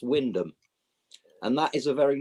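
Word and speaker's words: Wymondham: another place that's spelled why mundum but it's pronounced Windom and that is a very norol thing mate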